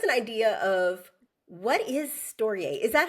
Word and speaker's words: Storyay: So I want to kind of jump right in and give listeners first an idea of what is stoier. Is that how you pronounce it? Storiier.